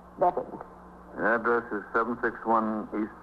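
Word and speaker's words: Beavan: And your name is Bevan. I spell it B-E-A-V-A-N, but I pronounce it Bevan.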